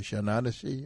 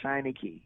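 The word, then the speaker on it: Shanachie: Shananashi or what? No, Shiny Key.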